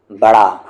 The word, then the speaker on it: بڑا: سے با را الف، اس کو آپ کو پڑھنا ہے بڑا، اور اسے آپ کو پڑھنا ہے برا، ٹھیک ہے؟